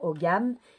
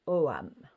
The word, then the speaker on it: ogam: Souvent, on entend OGAM, mais ça se dit OAM.